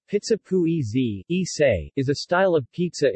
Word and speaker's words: pugliese: Pizza pugliese, Italian pronunciation, pizza pugliese, is a style of pizza in Italian cuisine prepared with tomato, onion, and mozzarella.